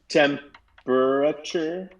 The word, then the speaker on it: temperature: here's another one um temperature is how i say it to remember that it's spelled with p-e-r-a and not just pra tem because we tend to say temperature breath um but it's spelled with that vowel in there take it out